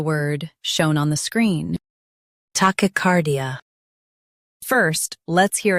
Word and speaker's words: tachycardia: Tachycardia. Stress car and keep D soft.